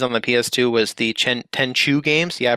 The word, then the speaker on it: Tenchu: my favorite series on the PS2 was the Tenchu games. Yeah, I pronounced it correctly this time.